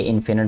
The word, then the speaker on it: infinite: लेकिन अभी मैंने इसकी प्रोनाउंसिएशन चेक की है गूगल से, तो ये बता रहा है कि ये फाइनाइट होता है और ये इनफिनिट होता है।